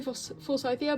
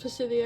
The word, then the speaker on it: Forsythia: I'm British, so I say Forsythia, but in the song it's pronounced Forsythia because they're American, and I kind of like that pronunciation better anyway.